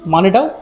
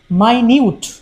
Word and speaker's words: minute: হোমোগ্রাফ এখানে কিন্তু উচ্চারণ একটা বড় ভূমিকা পালন করবে, কারণ স্পেলিংগুলো আমরা দেখতেই পাচ্ছি একই রকম, যদিও মানেটাও আলাদা। হোমোগ্রাফের প্রথম যে MINUTE এর উচ্চারণ আমরা করতে পারি মিনিট, যার অর্থ হলো সময়ের একটা সূচক।